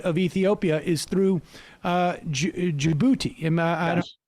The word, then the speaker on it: Djibouti: in and out of Ethiopia is through uh Djibouti pronouncing that right but yes you are and so